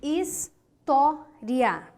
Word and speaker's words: história: e que tal a palavra hisória ó história vamos dividi-la hisória história primeira segunda segunda sílaba de trás para frente ela é uma paroxítona aqui é é a